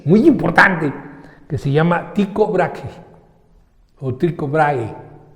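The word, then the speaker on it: Tycho Brahe: importante que se llama tico brague tiene una H antes de la e entonces en algunas lenguas nórdicas la H se pronuncia como G en español sería psicombraje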